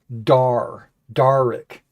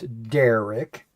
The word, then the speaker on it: Derek: you think of Derek, you think of ER, right? Not AR. And so they immediately go Darick. But then I have to remind them that daring, just like you spelled, is spelled that way, DAR, and it's Derek.